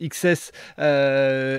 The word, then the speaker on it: XCSS: ce qu'est ce projet xcss qui se prononce XS explique-nous un petit peu